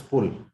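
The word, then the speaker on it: पुल: And a bridge in Hindi is called as pull. There's a very slight difference of pronunciation between fool and pull.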